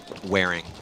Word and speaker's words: Waring: It's Waring, right? Waring. Waring. Yeah. That's my boy. I always say his name wrong.